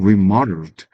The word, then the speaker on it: remodeled: remodeled. 예. 리모델링 했다는 얘기죠. 리모델링이 영어로는 remodeled라고 있습니다. 발음표가 아가 되죠. 그리고 뒤에 강세가 있죠.